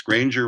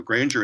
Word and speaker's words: Granger: tried a new method grainger analysis granger rhymes with strangers so grainger analysis to analyze the